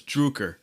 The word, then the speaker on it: Drucker: Droker? No, it's Druker. Druker. Druker. Say it. Come on, say it with me. Druker. Okay. Drucker. We're getting it. No. You had it right. It's like Smuckers, James, we're right?